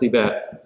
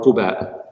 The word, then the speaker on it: Quba: border town before Medina known as Qiba or Quba. Both pronunciations are valid.